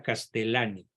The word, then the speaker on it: Leonardo Castellani: Se pronuncia Castellani.